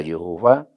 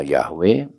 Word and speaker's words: YHWH: Kata Yehova itu membacanya ya dari 4 kata, tetragrammaton, YHWH, bisa dibaca Yehova, bisa dibaca Yahweh, sama saja.